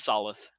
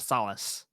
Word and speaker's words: Solith: It's Solith. Solith, Sola? like Lolith. But with Solith? Yes, S. Soluth. Just don't mispronounce this one because again, it just sounds too much like our own solar system.